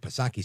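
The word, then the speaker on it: Psaki: call her Jennifer Circle back pasaki silent P but no that's uh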